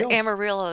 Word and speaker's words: Amarillo: sound like Spanish Ah that's because Amarillo is actually supposed to be pronounced Amarillo I'm sorry if I